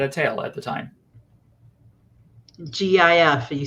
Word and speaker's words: GIF: tail at the time gif you say a jiff right jai hi hi cece oh my god um plague on humanity says i say it like gift without the tea can you think of